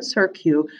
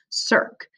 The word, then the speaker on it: cirque: you don't pronounce it circu you pronounce it with just one syllable sir here it is again ready cirque and do you notice